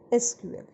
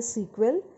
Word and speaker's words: SQL: uses structured query language SQL SQL is an abbreviation for structured query language and pronounced either sequel or as separate letters s Q l it is a standardized